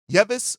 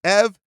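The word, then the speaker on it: Yves: to look at is yeis or EV I'm sorry it's EV Missy French name got to learn how to pronounce it correctly this is a guy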